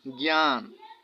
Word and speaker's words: জ্ঞান: শব্দের শুরুতে নিয় জয় থাকলে উচ্চারণ গয় জফলা চন্দ্রবিন্দু হয়। যেমন জ্ঞান, গয় জফলা আকার, চন্দ্রবিন্দু দন্তান্ন, জ্ঞান।